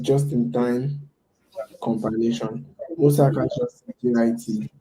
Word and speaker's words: JIT: Most hackers just JIT, pronounced like it rhymes with fit, or JIT.